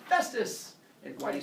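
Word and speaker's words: Hephaestus: sound they make together what sound does that make together yeah it's like my name like a telephone like Jack Phillips last yeah and so it's the pH too many kids see that and they see a p and a t and they say his name is hepatitis my MD name hepatitis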